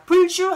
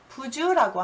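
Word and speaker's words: 不周: 비부준이라 여기서 똑같이 아니불이지만 여기를 부로 읽는 이유는 발음이 불편하여 아니불 자 뒤에 지긋자나 디귿자가 오게 되면 리을 탈락법으로 부로 읽습니다. 불주 하면 발음이 불편하기 때문에 부주라고 하는 경향이 있는 것 뿐입니다.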